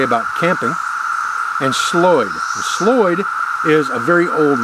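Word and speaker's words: slöjd: D in Sweden and the old Viking pronunciation of that word is slurred and what that meant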